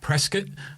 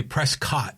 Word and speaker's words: Prescott: I You always say Dak Prescat like you pronounce it like Biscuit. You know, Prescott, but other people usually say Prescott, don't they?